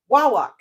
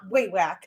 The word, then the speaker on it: Wawak: So wa like caw and walk. Wawak. It's still hard to say, but it's not way whack.